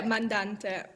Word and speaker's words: mandante: this is Rondo mandante am I am I saying it correctly yeah mandante it means like instigator